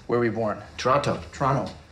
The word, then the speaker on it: Toronto: were you born Toronto Toronto Canadians don't pronounce the T some com guard is